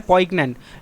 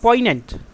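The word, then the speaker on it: poignant: तो आपकी जानकारी के लिए बता दूं कि यह जो हमने अभी उच्चारण किया है पोइग्नेंट। यह बिल्कुल ही गलत उच्चारण है। गलत ही प्रोनाउंसिएशन है। ट्विस्ट है यहां पे। ये जो जी पड़ा हुआ है, यह क्या है? यह साइलेंट है। अब इसका सही उच्चारण हो जाएगा पोइनेंट।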